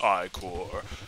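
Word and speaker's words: Ichor: with a magical i-core that's pronounced i-core choose your icore was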